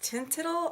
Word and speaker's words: Teint Idole: So I am featuring today is the Lancome foundation, and I think this is pronounced Tintidle.